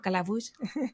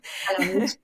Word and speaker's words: Calabuch: cómo pronunciaba algunas palabras, la voz sintética, por ejemplo, calabush. Calabuch, calabaza, calabuch. Eso es. Pues teníamos que poner, no podíamos poner la palabra tal cual escrita, sino que teníamos que escribir cómo se asemejaba la pronunciación para que la voz sintética pues la pronunciara bien. Y bueno, pues un poco del pulir, ¿no?